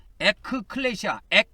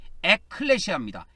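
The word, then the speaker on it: ἐκκλησία: 클레시아, 에크클레시아, 액이라고 해야 됩니다. 액, 이렇게 돼야 됩니다. 에클레시아입니다. 이 액은 에크를 줄여서 발음한 겁니다.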